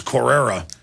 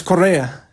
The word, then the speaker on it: Correa: be perceived as a hero so i was mispronouncing it is correra yeah it's correa it's uh but in any case he's you